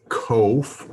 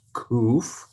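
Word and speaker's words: Qof: The next letter is KOF, or sometimes pronounced kuf. It is a Q sound, as in Qumran or king, so almost indistinguishable between the Q and the K sound.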